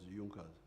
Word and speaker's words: Junker: There was there was a group in Prussia called Junas. It is written Junkers but they pronounce it as Junkers.